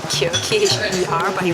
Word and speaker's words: kheer: I think it's called kheer, K-H-E-E-R, but he pronounce it as kheer. So I think it's kheer.